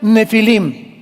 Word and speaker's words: nefilim: Esas palabras, si tienes tu Biblia dice gigantes, ponle nepilim con ph. Nepilim se pronuncia nefilim y significa caídos.